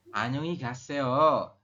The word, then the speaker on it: 안녕히 가세요: Pengucapan adalah Annyeonghi geseo. Selamat tinggal. Ya. Dijawab teman-teman. Mas Ade dibantu baca. 안녕히 가세요. Annyeonghi gaseo.